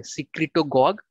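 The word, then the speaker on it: secretagogue: सिक्रिटोगॉग, ये मैं श्योर हूं कि इसको ऐसे ही प्रोनाउंस करते हैं क्योंकि मैंने गूगल में 2-3 बार चेक किया कि प्रोनाउंसिएशन क्या है।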